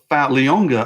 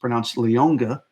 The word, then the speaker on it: Liona: You got Leonga, I learned from Sark's press conference. Liona is pronounced Leonga. There's a G in there somehow.